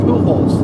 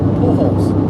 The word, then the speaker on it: Pujols: they definitely goes oh how do you say his name Albert Pujols that Jay is like an eight ball pools yeah a few Jewels which I know is not correct place now yeah